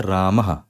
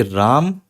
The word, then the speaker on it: रामः: पर लिखा है रामः तो इसका मतलब यह नहीं है कि राम और हा रामः यह हा नहीं होता है विसर्ग का मतलब बस होता है कि आप जो भी बोल रहे हो जैसे भी बोल रहे हो बस उसके बाद थोड़ी सी हवा और छोड़ देना तो राम या फिर